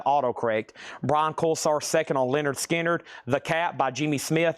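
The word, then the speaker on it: Lynyrd Skynyrd: Pronounced Leonard Skinnard on the first MCA black label, VG $14.99.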